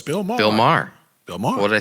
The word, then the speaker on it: Maher: show it's Bill Bill Maher what did I say mayor yeah you said like okay like like the female horse like the female horse